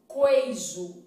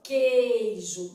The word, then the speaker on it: queijo: o número de fonemas na palavra queijo eu quero saber se esse U é pronunciado Se fosse pronunciado eu falaria assim ó queijo eu iria ligeiramente dar uma enrugadinha no lábio inferior queijo mas não falo queijo como boa mineira que sou e muito comedora de queijo eu vou fazer esticada asso ó queijo não é isso Então significa que esse U não é pronunciado Então nesse caso aqui